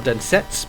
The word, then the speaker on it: Densetsu: Or Densetsu, because they don't pronounce the final U in Japanese words. Or at least you shouldn't.